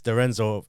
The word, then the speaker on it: D'Arienzo: And he's like, No, because I was watching a video where you introduced yourself on TikTok, and it's Dorenzo, because the A is, I guess, is silent, No, or it's- you don't really...